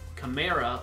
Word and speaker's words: Kamara: But anyway, Kamara, like Camaro, is the way to say it.